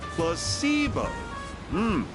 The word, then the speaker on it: placebo: Repeat after me. Placebo. The stress is on the middle syllable.